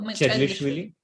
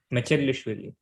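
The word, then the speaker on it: Mchedlishvili: Is the M silent? No, nothing is silent in Georgia. Oh, so it's what? Chedlishvili? Mechedlishvili.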